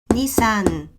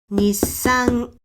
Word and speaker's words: Nissan: And if I pronounce Nissan slowly, it's going to be like this. Ni-sa-n, Nissan. It's not Nissan. It is Nissan, Nissan.